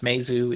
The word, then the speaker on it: Meizu: Is that the pronunciation, David? Yes, Meizu is, I think, the correct pronunciation.